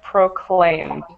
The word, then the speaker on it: proclaimed: out is this word proclaimed. Proclaim. Right, so when you see the ED on the end of the word, you don't add an extra syllable. It's just all together.